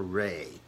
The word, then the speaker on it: Wray: Christopher Wray, that's W-R-A-Y, I think the W is silent, the new head of